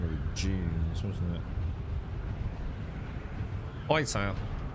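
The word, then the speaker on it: Hytale: Whitetail. It's spelled H-Y-T-A-L-E. It's, ooh, spice. That's a long way from home, though, isn't it? That's a long way from home. So, think of Hightail as...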